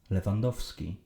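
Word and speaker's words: Lewandowski: Yes, you because of this guy, Leandowski. Skipping the second V is okay if you struggle to pronounce it. That is if you're okay with sounding uneducated.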